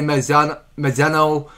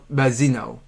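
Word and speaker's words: Malzeno: I mean, everybody guessing that they say Mazzano, but it was pronounced Mazzino.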